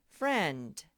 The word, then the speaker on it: friend: So we'll put the line to friend, and we're going to be very resourceful and look how they spelled friend. Silent letter I, and friend.